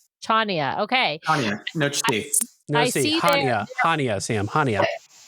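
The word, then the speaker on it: Chania: Chenia. Chia. I don't know how to say Chia. Okay. No. No. Ha. Hania.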